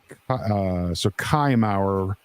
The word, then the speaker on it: Kaimauer: It's Kai, not K. So Kaimauer rhymes with by hour.